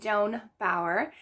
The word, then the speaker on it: Joan Bauer: for this one i chose tell me by joan bauer and yes i did pronounce that right thank you to someone who